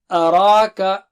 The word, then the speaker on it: أراك: أراك A is here, Ra is thick, and then Ka is thin. So repeat after me in parts, in syllables. A-ra-ka, a-ra-ka, araka, araka. Don't say o. Araka, araka. And here after ra, you have the short form of ya, and you don't read that.